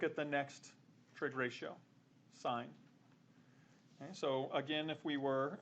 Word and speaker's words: sine: just the first three letters of them so s i n even though like students will pronounce this sin it's it represents sign and so this is s of a is